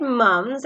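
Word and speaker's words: mumps: P is silent, so the correct pronunciation is mums. I had mums, and one by one, my sister.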